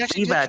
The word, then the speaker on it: Vivek: And the only reason I know it's Vivek is because in his little rap he says Vivek rhymes with cake.